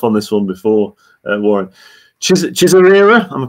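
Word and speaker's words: Chizarira: Chisarira, am I pronouncing that correctly? Chisarira, yeah.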